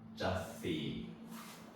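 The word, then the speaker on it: 雑誌: 요거는 이제 쉽게 말하면 뒤에 시가 왔잖아요. 그럼 시옷 받침으로 쓰는 거예요. 그래서 자씨 이렇게 발음을 해줘야 돼요. 그래서 이 받침 역할을 하기 때문에 조금은 이게 눌러주는 느낌으로 발음을 해줘야 됩니다.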